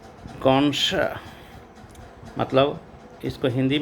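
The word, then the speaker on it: connoisseur: यहाँ पे देखिए किस तरह से इसका स्पेलिंग है। यहाँ डबल हो रहा है एस। And number 6 कॉन्सर।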